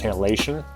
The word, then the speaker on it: halation: You pronounce halation? Halation.